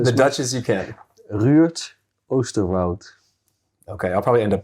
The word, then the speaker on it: Ruurd Oosterwoud: Do you want me to pronounce it the Dutch as I can? The Dutch as you can. Ruurd Oosterwoud.